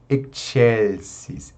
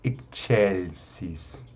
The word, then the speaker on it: excelsis: Então, a gente une o som do X e o som do C, né? Então, por isso que fica excelsis, excelsis.